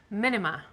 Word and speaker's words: Menemen: And how do you pronounce it? - Menemen.